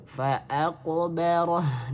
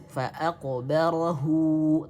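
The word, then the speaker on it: فأقبره: Ya, sehingga di sini jangan sampai dibaca fa'aqbarahu, tidak. Karena rumusnya tadi di sini dilihat ya, bila bacaannya wasal dibaca 2 harokat, tapi bila waqaf hurufnya waqaf ya, hak domirnya disukunkan dan tidak perlu dibaca gitu. Maka di sini langsung fa'aqbarah. Maka haknya di sini menjadi mati.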